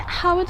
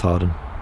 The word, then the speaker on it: Hawarden: and take them over to toulouse is it howard or not harden it's it's uh spells howard but it's pronounced harden so it's hard like well um i'm not